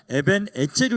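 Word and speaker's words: 에벤에제르: 말씀 에벤에셀이라 단어 아시죠 에벤에셀이라 하는게 원 원래 발음으로 하면 에벤 에제르 그래요 에벤 에르라인 원어적인 뜻이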